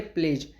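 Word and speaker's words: pledge: जाता है नेक्स्ट है प्लेज प्लेज मींस प्रतिज्ञा और इसमें डी साइलेंट है आई प्लेज माय डिवोशन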